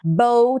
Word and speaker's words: bow: a gente vai usar bow tie. Bow tie. Porque bow é laço com essa pronúncia que rima com show, né?